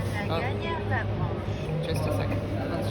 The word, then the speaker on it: Laganiere: Laganiere Labranche.